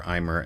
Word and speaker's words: aimer: Am I presumably pronouncing it terribly then? Closer to Amy.